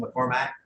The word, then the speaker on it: McCormack: Yeah, and then it goes 16 to, McCormack, that's what John Boomer called McCormack. Well, that's actually correct. Oh, is it? But McCormick is such a common pronunciation that even my own family Okay. says McCormick.